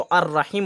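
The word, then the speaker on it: الرحيم: अब देखिए रा जो है ये भी रा जो है ना हुरूफ़ शम्सी में से है, इसलिए यहाँ पे लाम का उच्चारण नहीं होगा। डायरेक्ट अलीफ को रा से मिलाएंगे और रा के ऊपर तशदीद हो गया। ठीक है, मुशद्दद हो गया। ठीक है, तो अर्रहीम हो गया वगैरह।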